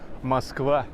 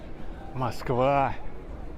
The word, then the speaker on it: Москва: Well, it sounds like Moscow in English, but in Russian it's Moskva, Moskva.